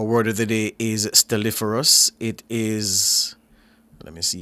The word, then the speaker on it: stelliferous: Stelliferus. Stelliferus. Stelliferus. Our word of the day is Stelliferus.